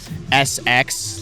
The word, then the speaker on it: Esseks: is so is kind of just like SX like the first initial of my first name and then the first half my last name spelled phonetically so tell me a